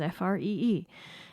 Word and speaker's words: Free: Free, and he's spelled like it sounds, Free.